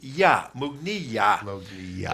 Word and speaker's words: Mughniyah: Yeah, Jihad Mughniyah. Mug, M-O-O-G. This is phonetically. Mughni, like your knee. Mughniyah.